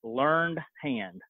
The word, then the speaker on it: Learned Hand: His name is Judge Learned Hand. Just like I said it, it's spelt like I said it.